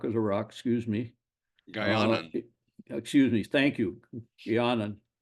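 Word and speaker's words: Guianan: rock, the Guinean Guanian, is that how you pronounce it? Guanan cock of the rock, excuse me. Guyanan.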